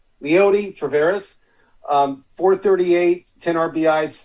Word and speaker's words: Leody Taveras: Leody Taveras.